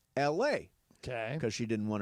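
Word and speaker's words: Elae: Like, for example, there is a woman who named her daughter E-L-A-E. E-L-A-E. It's pronounced L-A.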